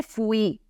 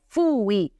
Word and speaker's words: fui: Quindi mi raccomando alla pronuncia, non è fui o fosti, ma è fui, fosti.